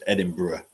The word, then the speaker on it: Edinburgh: that's how it's written but it's edin bruh just like Birmingham Birmingham a